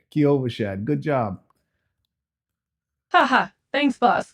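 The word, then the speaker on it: Kyovashad: say it more slowly for you okay it's Kovash Shad kashad kashad got it boss damn that's tricky to pronounce but hey at least we're learning something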